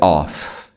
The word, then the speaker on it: off: Esse aqui é off. O, F mesmo, som de F.